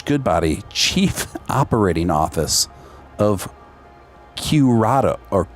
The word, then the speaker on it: Qredo: Josh Goodbody, Chief Operating Office of Curado, or Q. I don't even know how you pronounce this digital asset company. Qredo. Qredo. So Josh Goodbody, Chief Operating Office of Curedo.